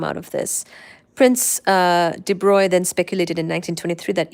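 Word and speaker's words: de Broglie: graduate student Prince Louie de Bry remember de Bry his last name is spelled like brogly de Bry then speculated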